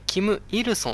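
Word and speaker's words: 金日成: 初代首相の名前を、キム日成と書いて、キム・イルソンっていうふうに言います。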